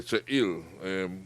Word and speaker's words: Cheil: Now, Cheil, right? Correct. Cheil, I'm pronouncing it correctly? You're pronouncing it correctly. Okay, Cheil.